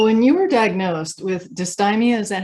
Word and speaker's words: dysthymia: So when you were diagnosed with dysthymia, is that how you pronounce it?